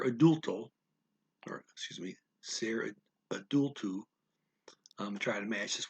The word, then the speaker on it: adulto: an adult ser adulto or excuse me sarah adultu i'm trying to match this one particular accent